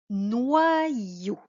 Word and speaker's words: noyau: Et l'autre moitié du Y va servir pour faire la syllabe ion. Ion. Crayon. Le Y remplace 2 I. Voyons un autre exemple. Noyau.